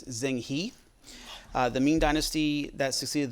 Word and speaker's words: Zheng He: So the Muslim explorer, a couple different pronunciations, but most common one is Zheng He.